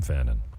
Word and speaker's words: Fannon: don't want to cooperate exactly I am Fannon I am the host of buying Dominican Republic